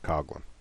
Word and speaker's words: Coughlin: Looks like Coughlin, but it's pronounced Coughlin.